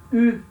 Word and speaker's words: ou: Então esse ou indica uma alternância. Em francês se escreve igual o português, mas na hora de falar se fala U, tá?